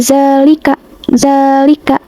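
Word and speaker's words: ذَٰلِكَ: Nah, ini tuh tajwidnya mad thabi'i. Di sini itu terdapat ee fathah tegak pada zal. Lalu dibacanya panjang dua harakat pada huruf zanya ini. Jadi dibacanya seperti ini. Zalika zalika. Nah, itu huruf zanya dipanjangkan gitu.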